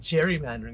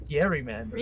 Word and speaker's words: gerrymandering: It's not gerrymandering. It's Gary mandering.